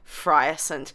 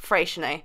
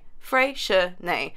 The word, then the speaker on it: Freycinet: I was pronouncing this part of Tasmania completely wrong. I was saying Freycinet, when in actual fact it's Freycinet. Freycinet.